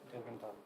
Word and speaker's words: Delventhal: How do you pronounce it? Title? You mean the surname? Oh, Delventhal. Delventhal.